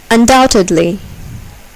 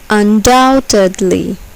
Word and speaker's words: undoubtedly: syllable is accented content undoubtedly undoubtedly here the second syllable is accented undoubtedly behold behold here the